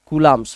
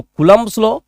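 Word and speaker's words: Coulomb's: कूलाम्स लॉ, इसको कूलम्ब्स लॉ, ठीक है, या कूलाम का लॉ भी बोला जाता है। तो कूलाम्स लॉ बोल रहा हूं तो ये कोई नहीं समझेगा कि वर्मा जी प्रोनाउंसिएट गड़बड़ कर दिया है, कूलाम्स लॉ बोलो, ठीक है। तो चलो हम बोलते हैं कूलाम्स लॉ, तुम बोलो कूलम्ब्स लॉ, कोई दिक्कत की बात नहीं है।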